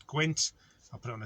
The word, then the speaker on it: gwynt: so it's the Welsh word for wind is gwynt, G-W-Y-N-T. I'll spell this one out to you, because if you read it in English it kind of sounds, pronounce it right, so it's gwynt.